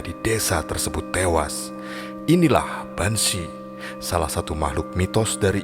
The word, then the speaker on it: Banshee: Kata Banshee berasal dari bahasa Irlandia yaitu Binsi, diucapkan sebagai Banshee yang diterjemahkan sebagai wanita peri kuburan.